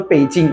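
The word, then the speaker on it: Beijing: হসপিটালে যাব 50 number বেইজিং পি মানে বিই আই জে আই এনজি বেইজিং এ উচ্চারণ পেইজিং পেজিং বেইজিং বেইজিংটা পেইজিং এটার মানে উচ্চারণ পেইজিং এইটা হচ্ছে চীনের রাজধানী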